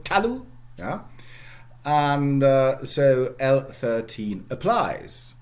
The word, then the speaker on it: talu: Ta-lu, all right? It's an open syllable. So the first syllable is open, okay? Ta-lu. It's not tal-u or something like that, yeah?